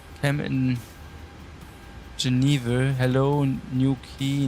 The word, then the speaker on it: Newquay: It's not called new quai. Okay. Pawn will airport new key or what? I'm slightly confused, but thank you for uh you say it wrong, mate. Ah, all right. Okay. Okay. So, it's new key.